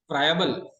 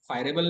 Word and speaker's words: friable: फ्रायबल, फायरेबल नाही, फ्रायबल. स्पेलिंग चुकलं.